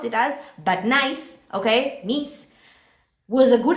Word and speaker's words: Nice: failed another club in France with Nice or Niche, whatever you want to pronounce it as, but Nice, okay, Nice, was a good idea is beyond me.